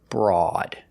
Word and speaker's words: broad: spelling and pronunciation rule when you have O A together it always makes the o sound that's the long o like go and no o o a together makes a long o example Road coat and many many other words except this word this is Broad the OA does not make the long o like it's supposed to it makes the